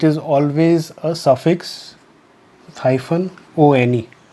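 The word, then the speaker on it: -one: always a suffix hyphen one. So it's not pronounced as one, it is on.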